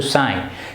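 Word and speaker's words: sigh: बच you have to साय साय यहां पर भी देखिए एस आय जी एच यह जो जीपीएस है यह साइलेंट रहेगा इसको सा यह इस तरीके से कुछ अलग तरीके से नहीं बोलेंगे जिए सुबह-शाम लें तो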